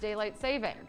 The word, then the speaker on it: daylight saving: 500 seriously daylight saving i was saying it wrong like my entire life until i hosted a game where the the fact was it's actually just daylight saving what else oh mark